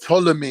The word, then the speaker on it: Ptolemy: He had Ptolemy, he had Seleucids, then he had another one. So Ptolemy, the Seleucids. The Seleucids. Thank you. So Ptolemy was running Kemet. Ptolemy, it's a silent P.